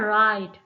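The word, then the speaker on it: write: Then हमारे पास word है राइट। राइट में डब्ल्यू साइलेंट आता है।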